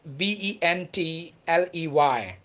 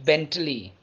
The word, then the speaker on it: Bentley: the fifth name is b e n t l e y not bentley the correct word is bentley bentley bentley let's talk about the